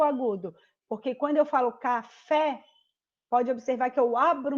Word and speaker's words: café: Ó, aqui na palavra café. Lembrando, ó, o fé é a sílaba mais forte, porque é a última sílaba, então ela é uma oxítona, porque a última sílaba é a mais forte e ela termina com a letra E.